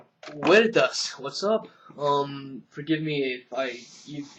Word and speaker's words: Veritas: Veritas, what's up? Forgive me if you don't like me pronouncing your name Veritas. I just like to go with the original Latin pronunciation because I took Latin